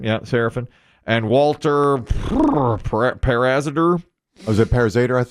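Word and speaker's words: Seraphine: Serafin, yeah, Serafin.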